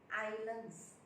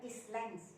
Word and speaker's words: islands: Seperti ini, islands, bukan islands, tidak. Yang S ini tidak ada bunyi.